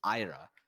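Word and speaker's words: Aira: in their um in their language is ira it's so it's not isla yeah it's a it's kind of pronounced like a-i-r-a basically oh and then um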